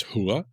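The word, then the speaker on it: Húath: As I said before, this is the H rune, or the H ogham, and it's pronounced as hua.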